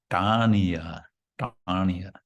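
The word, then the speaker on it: āṇiyā: So then number 2, āniyā, the T with the dot under it. Ta. It's a retroflex ta. That means the tongue touches the top of the mouth when you pronounce.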